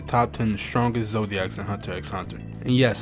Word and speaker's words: Hunter x Hunter: 10 strongest Zodiacs in Hunter x Hunter. And yes, I say it with the X, as you should. That's the proper way to say it.